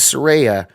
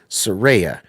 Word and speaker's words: Saraya: because right after this because Soraya not Soraya Saraya I don't know why